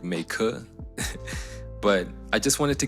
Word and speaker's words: Meike: The brand I thought was pronounced Mikey, but I watched a video and I think it's pronounced something like Meike.